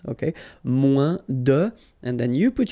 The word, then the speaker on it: moins: Then if you want to say less, it's moins in French. So no discussion about the S here. Don't pronounce it. Okay, moins de, and then you put your noun, que, than, and the rest of the structure.